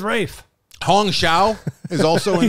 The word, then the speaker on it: Ralph: head chef head chef it says Ralph right there I know but I've been I've been told I've been told to call him right it's spelled can I just call him Ralph I'm gonna call her off and he says rage his name is Rafe Hong Xiao is also